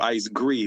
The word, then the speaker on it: Gree: And actually, I just wanted to say that for people listening, this old school Ice Gree with a long e sound like grie, not gray.